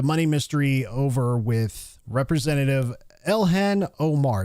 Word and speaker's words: Ilhan: Let's start with the money uh the money mystery over with Representative Elhan Omar. Is that how you say her name? Ilhan. Is it Ilhan Omar? Ilhan. Ilhan Omar.